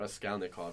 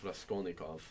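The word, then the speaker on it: Raskolnikov: didn't say it right it's not rascalov it's rasov but rasov is um in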